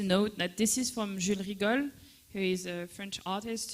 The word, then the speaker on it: Jules Rigol: อันนี้ก็เป็นผลงานของเพื่อนอาจารย์ฟานูนะครับก็คือเป็นศิลปินชาวฝรั่งเศส That could you pronounce her name again? Jules Rigol.